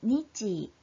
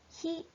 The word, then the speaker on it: 日: 소리로는 니치, 지즈, 뜻으로는 히 또는 까라고 읽죠.